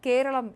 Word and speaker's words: കേരളം: ഭരണഘടനയുടെ 1-ാം ഷെഡ്യൂളിൽ രേഖപ്പെടുത്തിയിരിക്കുന്ന കേരള എന്ന ഇംഗ്ലീഷ് ശൈലിക്ക് പകരം മാതൃഭാഷയിലെ യഥാർത്ഥ ഉച്ചാരണമായ കേരളം എന്നാണ് നമ്മൾ മാറ്റിയിരിക്കുന്നത്.